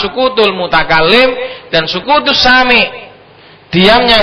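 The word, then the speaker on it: سكوت: Ma'afada faidatan tamatan yahsunu sukutu, bacanya itu sukutu.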